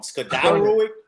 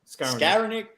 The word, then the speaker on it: Skowronek: I always say it wrong. Skadarowick? What is it? Skowronek.